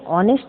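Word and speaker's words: honest: Philip was एन ऑनेस्ट king, ऑनेस्ट है, ओ से शुरू है प्रोनाउंसिएशन के अकॉर्डिंग, इसलिए यहाँ पर एन लगा है।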